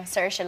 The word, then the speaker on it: Saoirse: Saoirse, like inertia. Because people don't get it, otherwise they butcher my name. But in Ireland, people say it different ways. So, like, isn't there a Saoirse?